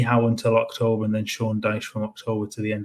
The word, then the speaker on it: Sean Dyche: Sean Dyche.